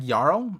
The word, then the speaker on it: Jarul: and J Rule right Jarl pronounced like yarl oh yl all right